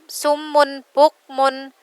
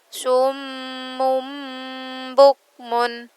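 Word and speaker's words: صُمٌّ بُكْمٌ: Bacanya harus diganti ke huruf ba. Mim ba, bukan min ba'di, bukan sumun bukmun, tapi dimasukkan ke ba, diganti ke dalam huruf ba. Summum bukmun. Mim ba'di.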